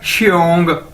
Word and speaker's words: xiong: आपको पता है हम किस तरह प्रोनाउंस करते हैं, किस तरह, शीन की तरह, ठीक है, श। तो XIONG क्या बन जाएगा, श्योंग, श्योंग, श्योंग, श्योंग, ठीक है, श्योंग।